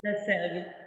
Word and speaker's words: La Sergue: And the third wine you sent is La Serge, if I pronounce correctly. La Sergue, yeah.